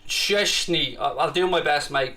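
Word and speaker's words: Szczęsny: a kraken player uh it's pronounced cheshney i'll do my best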